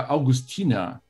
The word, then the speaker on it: Augustiner: cerveja eles da marca augustina ou augustiner na pronúncia Curitiba E aí família esse